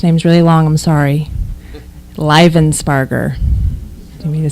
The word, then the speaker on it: Livensparger: Livensparger. Do you mean to spell it?